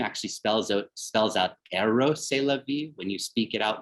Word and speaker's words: Rrose Sélavy: kiss as two figures holding one another, then Rrose Sélavy who's the double of Marcel Duchamp, and whose name actually spells out Rrose Sélavy when you speak it out loud, so E-R-O-S